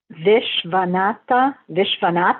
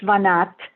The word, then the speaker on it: Vishwanath: Vishwanath. You don't have to pronounce that A at the end if you don't want to. Vish. The S with the accent mark is like a sh sound. Yeah. Vishwanath, and the C is a ch.